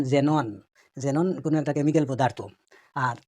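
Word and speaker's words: xenon: এবং এটা মনে রাখতে হবে যে ওয়ার্ডের প্রথমে যদি এক্স আসে, তাহলে কিন্তু এটাই উচ্চারণ হয় জর মতো। যেমন জেনন, কোনো একটা কেমিক্যাল পদার্থ।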